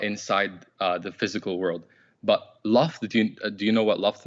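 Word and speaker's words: لفظ: It has kalam nafsi and it has kalam lafz. Okay. So kalam nafsi means the words, like the uncreated words. Now, kalam nafsi is uncreated because it's not inside the physical world. But lafz, do you know what lafz means?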